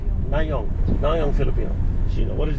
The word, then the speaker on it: Nayong Filipino: I can't pronounce it. Nyang Filipino? Nayong. Nayong. Nayong Filipino.